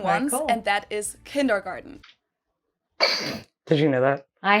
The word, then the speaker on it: Kindergarten: So kindergarten's freaking German. I'm sorry. Okay, back to the video. We're probably going Sorry. to do that on all of these. My mind's blown. In German, we pronounce it Kindergarten, and it literally means children's garden.